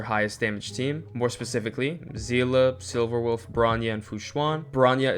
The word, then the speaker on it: Seele: Also, I'm still seeing people confused about how to pronounce Seele's name, so let me just...